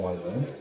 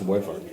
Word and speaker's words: wyvern: Yes, I did have a small tussle with a wyvern. It's Come over again. But you won. That's the move. It's pronounced wyvern.